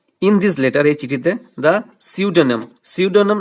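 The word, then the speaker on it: pseudonym: this letter এই চিঠিতে সিউডেনেম সিউডোনেম এটা পি দিয়ে শুরু হলেও পি টা কিন্তু সাইলেন্ট থাকবে সিউডেনেম অফ দিস মার্চেন্ট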